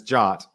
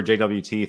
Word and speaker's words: JWT: it but that's JWT the official pronunciation is jot I would say I'll probably say ja or JWT 50/50 depending on I